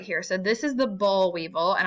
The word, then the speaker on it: boll weevil: So this is the boll weevil, and I'm going to spell it because I know my accent's probably throwing y'all off. It's B-O-I-L. Boll weevil, W-E-E-V-I-L, the boll weevil.